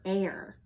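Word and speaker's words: heir: nibbling on my gnocchi h is for air the honest air admits that herbalism isn't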